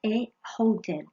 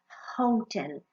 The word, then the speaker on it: hotel: ser más difícil porque es un hotel y tú pronuncias hotel. Es un sonido consonante, es un sonido muy suave, pero es consonante porque si te pones la mano aquí, el sonido sale de dentro y es hotel.